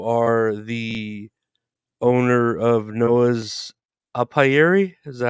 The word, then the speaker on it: apiary: uh and you are the owner of Noah's upayeri is that how we pronounce it yeah correct it's a term used